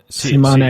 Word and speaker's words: Tsimané: There's an accent on the E, and it took me a while to figure that one out.